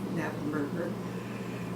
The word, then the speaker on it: Knappenberger: I was named for my two grandmothers, Clara and Belle, and my mother, my last name started with a silent K, Knappenberger.